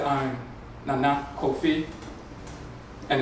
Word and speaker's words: Nana: So, and it's Nana's a low, high, pronunciation. If someone said, I'm Nana Kofi, and it's N-A-N-A, in English, people use the term grandmother, it's Nana, Nana so-and-so.